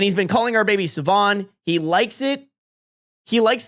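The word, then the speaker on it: Siobhan: It's pronounced Sivan, right?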